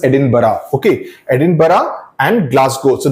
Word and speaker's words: Edinburgh: Edinburgh nahi bolte, it's pronounced as Edinburgh.